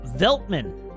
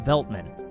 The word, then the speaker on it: Veltmann: welcome to the channel uh veltman beltman you all are gonna correct correct my pronunciation on every single planet in this system it's veltmann uh hydrogen a hydrogen